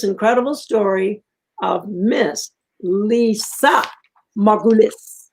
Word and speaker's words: Margulis: story of Miss Lisa Margulis. I got it right. I pronounced it right. Good job. It took me a while, but I learned to do it. Margulis. Margulis, you got it.